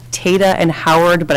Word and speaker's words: Tata: I believe it's called Tata and Howard, but I keep pronouncing the first name wrong. Tatum and Howard. No, Tatum. It's T-A-T-A.